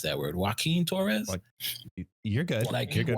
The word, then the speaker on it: Joaquin: Joaquin, how you pronounce that word? Joaquin Torres? You're good. You're good. Joaquin.